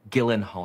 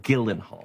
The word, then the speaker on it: Gyllenhaal: week with Camila Cabello Gillen Hall your name is pronounced gillenhaal I guarantee you it is not